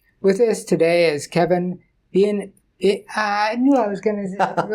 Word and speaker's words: Bieniek: With us today is Kevin Bieniek. I knew I was going to ruin it. I was going to say Bieniek, but... No, it's Kevin Bieniek. Bieniek.